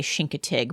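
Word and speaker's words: Chincoteague: So, when Kevin and I went to Shinkatig in I think I'm saying it wrong. I think they say Shinkatig, but I just can't do it because I've been saying it wrong my whole life.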